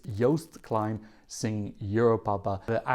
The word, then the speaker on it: Joost: say I am aware his name is yast yast kind I've been practicing how to say it yast makes the most toast on the coast so I do know